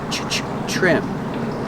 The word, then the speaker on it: trim: to trim the bushes remember trim with tr makes it sound like chicken trim they need to trim